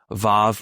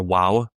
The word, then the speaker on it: vav: be some even some different pronunciations like uh vav or wow same letter it's got to be vav I firmly in the vav camp here's the funny